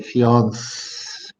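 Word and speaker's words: fiancée: fiancee when you see this little mark here like this this is called an accent mark and the minute you see that you can see that you can know that it's french and they pronounce it instead of actually should be i've got that a little wrong you should be able to say fiancee that's like you know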